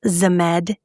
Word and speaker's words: Zmed: I know that it's it's pronounced Zmed, but when it's coming out of my mouth, I'm like Zmed.